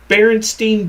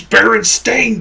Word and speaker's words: Berenstain: The barest of Berenstein bare minimum. It's Berenstain, goddammit! Get over yourselves, people.